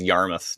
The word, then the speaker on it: Yarmouth: oh yarmouth ah yes sue says yarmouth not mouth that's true yarmouth is it spelt mouth i have a feeling it actually is spelt mouth but i guess it's pronounced muff how come nothing is